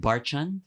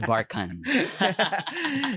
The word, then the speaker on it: Barchan: So I'd like to officially teach everybody that it's not Barchan, it's Barchan.